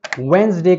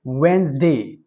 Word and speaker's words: Wednesday: Jawad, इस word को हम Wednesday कहेंगे। जो DNES है इसको हम Z साउंड में लेकर आएंगे और कहेंगे Wednesday. Its correct pronunciation is Wednesday.